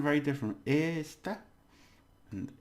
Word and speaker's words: esta: So the stress for this one is on the first syllable. This is, right? And this means this one, or this thing. Esta.